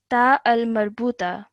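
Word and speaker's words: تاء مربوطة: It has the shape of a ha, but because of the 2 dots on top, this is pronounced as a ta.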